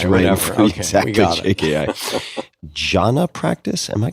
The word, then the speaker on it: Jhana: Jhana practice. Am I pronouncing that correctly?